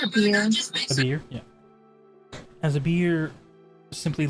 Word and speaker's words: Abir: As Abir, A-B-I-R, how do you pronounce that? I think it's a beer.